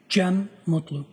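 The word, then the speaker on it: Cem Mutlu: Jen Mutlu.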